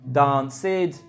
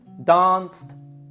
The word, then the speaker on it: danced: Can you hear the verbs, the id, the forced id sound on all those verbs? Stayed, danced, talked, appeared, played, when they should be pronounced stayed, talked, danced, played, appeared.